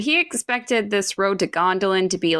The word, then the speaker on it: Gondolin: So it's a hard G, not a soft G. It's Gondolin. It's Gondolin.